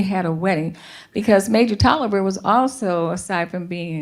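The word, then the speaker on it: Taliaferro: Indian agent major Lawrence Tyler Farrell or Toliver rather is how you pronounce that head body brought Harriet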